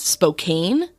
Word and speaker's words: Spokane: matter of pronunciation issues I believe I pronounced Spokane Washington as Spokane like a like a true Outsider it's it's Spokane and I do apologize